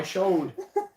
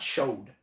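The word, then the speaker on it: chaud: body part oh my showed showed show is that that's french for hot it is no show but not showed that showed dude they don't pronounce the d no they're too classy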